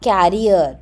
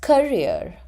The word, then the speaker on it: career: and it is not carrier don't call it as or don't pronounce it as carrier but it is career career and Development Career